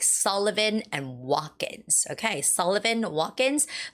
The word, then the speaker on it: Sullivan: So, it's Sullivan. Sullivan with the first syllable stress and watkins.